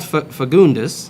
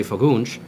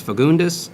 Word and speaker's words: Fagundes: But as far as my last name, it's spelled Fagundes, or it's pronounced Fagundes. It's spelled Fagundes. It is a Portuguese name, so in Portuguese, I guess you'd say Fagundes. Fagundes. But since most people don't say that, I was raised, it's Fagundes, and it's not a common